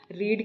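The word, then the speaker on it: read: रीड की second form रीड ही लिखी जाती है, लेकिन इसको करेक्ट प्रोनाउंस करते हैं रेड।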